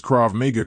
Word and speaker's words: Krav Maga: It's also worth noting that Taco pronounces Krav Maga correctly, but the robot does not. No, you're not doing Krav Maga. It's not Krav Make America Great Again.